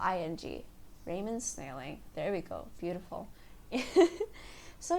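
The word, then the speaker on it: Raymond Snailing: mo and D s na i L ing Raymond's nailing there we go beautiful so yeah on my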